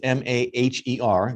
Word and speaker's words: Maher: by the way it's m-a-h-e-r you'll need that later but um pronounces it like bill maher and she's a sales